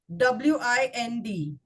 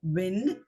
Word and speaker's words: wind: be an announcement of wind you are expected to wind your work up and go home d o v e anybody